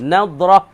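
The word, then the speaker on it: نضرة: Abu Nadrah baca dengan nun, lagi pula dad al mu'jamah, titik sebutik, Nadrah.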